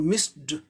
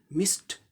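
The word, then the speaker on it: missed: अब ये स साउंड है, ये वॉइसलेस है, इसीलिए ईडी का उच्चारण ट हो जाएगा, मिस्ट। हम लोग मिस्ड ड बोलते हैं, लेकिन सही उच्चारण मिस्ट ट होगा, मिस्ट।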